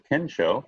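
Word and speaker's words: Kensho: We have coming up a Ken Show, that's spelled K-E-N-S-H-O, Ken Show Enlightenment Workshop by Dr.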